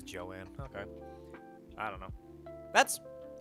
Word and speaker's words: Joann: Is it Jones or Jo-Ann's? I thought it was Jones Fabric, but I might have just heard it be talked to I might have just heard it from somebody who pronounced it weirdly. Oh, it is Joanne.